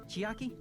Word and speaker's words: Chiaki: Isn't that right, Chiaki? Chiaki. Oh, you're What? right. That's how you pronounce it?